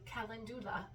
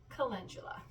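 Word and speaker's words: calendula: on me and Cula which I've been pronouncing phonetically kandula but it's actually Cula uh which is funny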